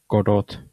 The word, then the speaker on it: Godot: you haven't heard, like we are switching to Godot engine, and I'm going to pronounce it that way.